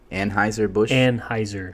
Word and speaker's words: Anheuser-Busch: Anheuser-Busch. Yeah. That doesn't sound right. That's right. My dad's drank all my life. Trust me. That's right. I mean, that's what I started on was Budweiser, It's Anheuser/Busch.